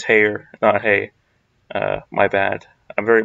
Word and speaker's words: Heyer: I don't think so I just realized that I was saying Heather's name wrong it's I think it's hair dye hey my bad I'm